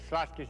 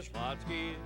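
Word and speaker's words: Schlotzsky's: First, to take a name which most people can't pronounce. Slotsky's is one of the best sandwiches that's ever been created. It's a pretty weird name, though. I say Slotsky's.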